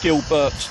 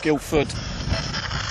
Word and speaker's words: Gilbert: It's Gilbert, not Guildford.